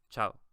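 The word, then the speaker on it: chao: And then with the CH, which is pronounced like in English, like chip, for example, you would say cha, o, chow, chow.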